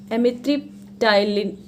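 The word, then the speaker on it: amitriptyline: fifth, एमिट्रिप्टाइलिन, एक तो बायो के वर्ड भी नहीं समझ आ रहे, एमिट्रिप्टाइलिन, इसमें पी साइलेंट होता है, ठीक है, एमिट्रिप्टाइलिन में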